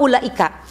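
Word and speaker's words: أولئك: Kalau panjang nafas lima, kalau pendek nafas empat. Tapi rata-rata memang lima. Ya. Contoh ulaika gitu ya bacanya. Ulaika humul muflihun. Tuh namanya mad wajib muttasil.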